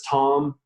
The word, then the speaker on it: Thom: just go to Tom calm my last name is spelled th om so Tom calm